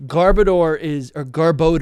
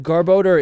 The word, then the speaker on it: Garbodor: So if Garbodor is made of trash, I don't know how to say it actually. I think Garbodor makes sense. I say Garbodor like Gardevoir.